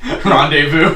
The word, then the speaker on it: rendezvous: Rendezvous. In Indian English, rendezvous is pronounced rendezvous. Without the silent letters.